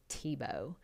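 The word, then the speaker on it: Thibaut: if you're a designer you should know how to pronounce the word TBO I mean very condescendingly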